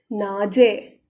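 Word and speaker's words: 낮에: can see that here so this will be read as nade in the day to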